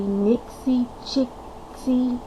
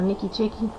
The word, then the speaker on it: NixiChixi: there in the sidebar, because she said I said it wrong earlier. So I think it's supposed to be Nixie Chicksy, and I think I call her Nikki Chicky.